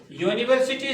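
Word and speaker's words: university: तो वही मैंने यहाँ लिखा बेटा, note यूनिवर्सिटी starts with A you sound. जब यूनिवर्सिटी शुरू होती है तो किससे शुरू होती है, you sound which is consonant sound.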